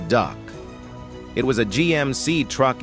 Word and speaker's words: DUKW: The DUKW pronounced the duck.